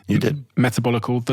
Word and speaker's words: Metabolical: book and I also have this book called metabolical did I pronounce that correctly you did metabolical the L and the lies of processed food